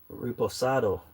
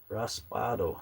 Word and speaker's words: reposado: Uh, it says reposado, not raspado. Okay. Sorry, Jerry. Reposado. Reposado. I did read it wrong.